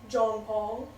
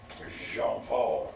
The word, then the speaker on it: Jean-Paul: John Paul. Okay. Jean-Paul now. They're over here Jean taking Paul fucking notes. Mayo. They're taking, okay, John Paul Mayo, got it. You gotta say it right. Jean-Paul.